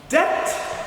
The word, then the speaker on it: debt: So to speak, doubt fine when he should say doubt. Debt when he should pronounce debt. D-E-T, not D. No, it is D-E-B-T. Not D-E-T.